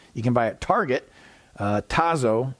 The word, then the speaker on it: Tazo: can buy at target tazo i think that's how you pronounce it t-a-z-o the tazo brand of